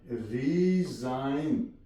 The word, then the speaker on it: resign: RESIGN, रिजाइन, ji silent.